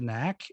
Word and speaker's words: Knaak: with twitter it's at get the knack and knack is spelled k-n-a-a-k facebook author page so